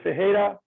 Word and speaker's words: Ferreira: as you introduce me my name is fejera and you didn't say it correctly but it's